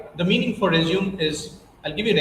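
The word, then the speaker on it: résumé: So the last E sounds as A. You got it? Never ever say resume. At an interview, you need to say resume.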